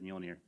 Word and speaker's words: Mjolnir: Actually, what I did, I went into Google and I said, Google, please say this for me, and it said Mjolnir.